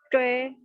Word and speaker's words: 追: Terus yang 9, 10 karena H, lidahnya diangkat. 追 sama 专心 ya, lidahnya diangkat, ditempelin di langit-langit ya.